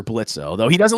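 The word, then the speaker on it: Blitzø: is the character of Blitz or blitzo though he doesn't like to be called blitzo okay it's it's Blitz the O but the O is silent uh and he is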